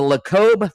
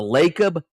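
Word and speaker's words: Lacob: Is it the Lob family? Is that how you say it? LeB So he has a relationship with the Lakob family that owns the Warriors.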